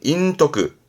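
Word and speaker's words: 隠匿: 발음은 인토크, 인토크예요. 요 숨길 익자가 사악할 특자로 읽히기도 하거든요. 특이다 보니까 발음을 토크한 케이스라서 좀 명심할 필요가 있죠.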